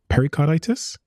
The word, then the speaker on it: pericarditis: It says that up to 1 in 10,000 people with the Pfizer vaccine are at risk of myocarditis or pericarditis. Have I pronounced that correctly?